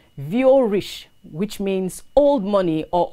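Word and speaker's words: vieux riche: u x space r i c h e pronounced v o rich which means old money or old riches and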